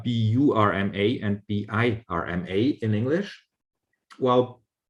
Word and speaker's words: Burma: Now, when the British colonial people heard the word Burma with the schwa here, it's like a weak syllable, a short syllable.